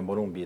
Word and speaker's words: morumbi: Assim como a gente pronuncia morumbi também fica forte, café também fica forte a última sílaba e paletó também.